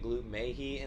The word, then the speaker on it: Gloop: I've got my man Gloop in the studio. That is how you pronounce it, right?